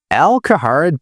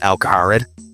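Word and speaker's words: Al Kharid: I know I mispronounced Al-Kaharid. It's how I've said it since I was a kid, so it's what sticks. It's what my brain goes to. I know deep down that it is Al-Kaharid, but it is what it is.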